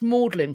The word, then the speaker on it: Magdalene: It's like it's spelt Magdalene, but it's Magdalene College. Even though it's spelled Magdalene. Yeah.